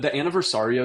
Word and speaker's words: Anniversario: Do you think that same opinion for like a smaller vessel like the Riva Anniversaria? Did I say it right? Yeah. Yeah. So the Anniversario is an interesting one.